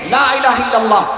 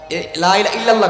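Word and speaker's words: لا إله إلا الله: এই জাতীয় জিকির না যেটা স্পষ্ট শুদ্ধ উচ্চারণ তা করো লা ইলাহা ইল্লাল্লাহ লা ইল্লাল্লাহ কয় অনেকে বলে লা ইলাহা ইল্লাল্লাহ এখানে লা ইলাহা ইল্লাল্লাহ শেষে একটা হা আছে ইল্লাল্লাহ বললা হা আসে নাই এজন্য এজন্য স্পষ্টভাবে বিশুদ্ধ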